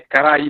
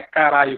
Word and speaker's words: Caraí: Ou Carai, eu não sei como é que se pronuncia. É Caraí, não é caralho, como diz o professor.